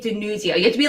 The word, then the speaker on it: DiNuzzo: You say the Z. DiNuzzo. You can't just casually say DiNuzzo.